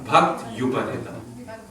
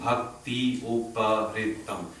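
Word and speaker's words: भक्त्युपहृतम्: It's a bhakti. Not bhakti. There should be no E sound there. In that quarter, there's no E at all.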